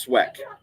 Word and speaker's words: Sweck: It's pronounced Sweck, like Sweck.